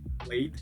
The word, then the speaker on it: played: Então, to play, played, played, played é da e não t com o t.